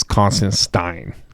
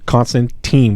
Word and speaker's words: Constantine: corrects um somebody and tells him it's constant stein because he calls him constance constantine with t-e-n written he goes it's actually constant stein and someone post like